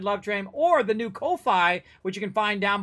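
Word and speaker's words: Ko-fi: show some love over there I think it's Kofi actually is how you say it uh that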